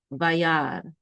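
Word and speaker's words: וַיַּרְא: The shiva is silent, and this aleph is silent. So this is just vayar.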